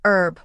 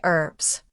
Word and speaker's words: herb: Americans often say herb without the h sound while British speakers pronounce the hb.